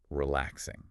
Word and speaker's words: relaxing: And the example they use is the word relaxing. Okay. They really stress how important it is to emphasize that second syllable. Relaxing, not relaxing G.